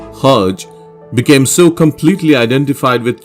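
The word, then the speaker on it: Hergé: Remy was known by his pen name Hajj from the French pronunciation of his reversed initials RG.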